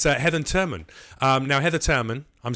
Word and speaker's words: Heather Turman: Now, Heather Turman, I'm saying it correctly this time.